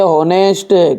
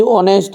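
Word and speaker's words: honest: अपन पढ़ते हैं केट, इसे हम क्या पढ़ते हैं होनेस्ट, कि ऑनेस्ट, ओनेस्ट पढ़ते हैं, होनेस्ट नहीं पढ़ता है, और इसे पढ़ते हैं आवर, पढ़ते हैं भैयू।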